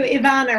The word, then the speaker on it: Ivana: Nice to meet you, Ivana, right? Yes, a lot of people have trouble pronouncing it, but you got it right.